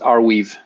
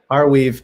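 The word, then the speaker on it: Arweave: never known how to pronounce it yes it's pronounced our weave our weave and uh would it be fair to compare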